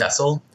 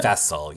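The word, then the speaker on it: Faysal: I forgot how he said you say his name, but he said Fessel. Yeah. Fessel, yeah. But he said it's like Jesse with an F.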